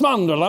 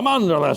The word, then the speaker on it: mandorla: everything you're saying, but say it properly. It's mandorla, mandorla." She was from Italy, and she was correcting my Italian.